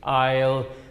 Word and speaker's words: aisle: Aisle, in a church, aisle, I-S-L-E, and then you write rhymes with mile, M-I-L-E.